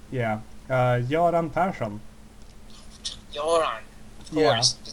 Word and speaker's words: Göran Persson: Joran Person.